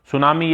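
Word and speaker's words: tsunami: सुनामी ये सुनामी की spelling होती है जिसमें टी साइलेंट होता है।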